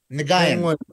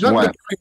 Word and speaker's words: Nguyen: Nagayan. No, it's Nguyen. That's not how you pronounce that.